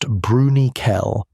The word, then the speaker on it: Bruniquel: What they found in Bruniquel Cave, pronounced Bruniquel, was architecture.